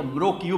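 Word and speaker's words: Mrauk U: হ্যাঁ হ্যাঁ, এটা মৃকিউ বলে, এইটাই উচ্চারণ ইংরেজিতে, মানে আমাদের ভদ্র বাংলায় বলে রোশাং, ওখানকার স্থানীয় ভাষায় বলে রোয়াং, রোশাং রোহাং রোহাং সব একই কথায়।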